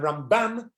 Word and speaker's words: Ramban: The stress, when we say Rambam, we do the stress at the first half, Ram, that's right, and Ramban, you do the stress on the second